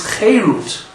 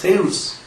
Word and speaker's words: cherut: And the word charut, our sages said, can also be read as cherut. The exact same letters, but just with a different pronunciation. Word charut becomes cherut, or charus becomes cherus. And cherus means freedom.